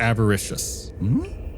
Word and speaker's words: avaricious: The plaque says, Caldeman, the Avaricious. Caldeman? Caldeman. The avaricious? Avaricious. Like a very... Like Everest. Yeah. No. These are all words I don't know. Wait, spelled like Everest or avarice? Like avarice. Avaricious.